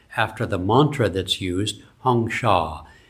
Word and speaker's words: Hong Sau: Hong Sha H O N G S A U is how he spelled it. He pronounced it more like a Bengali, which is what he was.